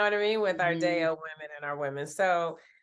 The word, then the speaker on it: Dayo: However, it happens to be a real African name that's pronounced Dayo. And it means happiness has arrived or joy has come. And that really is the